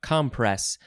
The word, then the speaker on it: compress: Now, I think in the last episode, it was compress, We are emphasizing the first syllable this time, compress.